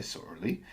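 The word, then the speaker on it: Sorley: So, S O R L E Y Sorly. Even people who've read it and then pronounced it, the next time they go to write it, they spell it S O R E L Y.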